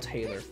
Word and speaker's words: Taylor: He sounds like James Arnold Tyler, I don't know how you pronounce his last... I think it's James Arnold Taylor. That's how you pronounce his name.